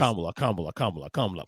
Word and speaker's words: Kamala: Like just Kamala.